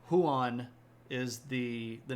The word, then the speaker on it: Huan: it's not yeah so who on it's two syllables and Juan is one syllable um so Juan is a Spanish name huan is the the name